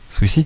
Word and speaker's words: SW2EZY: Swizy. Un mec de SW2EZY, ça se prononce comment? Swizy. Voilà. Ouais. Voilà, c'est bon, c'est ça alors. C'est américanisé tout ça.